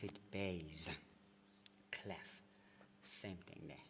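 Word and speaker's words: bass: the b c b it's as if you're saying b b a s e otherwise it's double s okay but you pronounce it baze cleff same thing there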